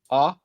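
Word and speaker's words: Å: Anyway, let's go to the next one, which is the A with the ring above it, pronounced like ah.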